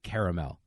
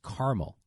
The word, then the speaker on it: caramel: r a i say caramel but if you go into Wisconsin or you go into the Midwest it's caramel they just act like that a is not there so I know I'm